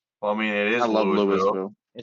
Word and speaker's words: Louisville: Louisville. I think the Tennessee is affecting you at this point now. Lewisville. It's spreading. It's spelled Lewisville. Yeah, but it's Louis. It's Louisville.